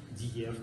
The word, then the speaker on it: diğer: Перед и Е она читается как Е, Диев, там другие слова.